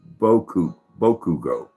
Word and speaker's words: Bakugo: It's pronounced Boku Bugo, but spelled Bakugo.